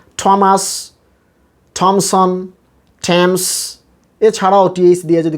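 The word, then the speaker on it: Thomson: উচ্চারণটা হবে থমসন, থমসন, টিএইচের উচ্চারণ এখানে টা, থমসন।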